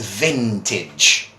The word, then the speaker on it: vintage: So the pronunciation to this word is vintage, right?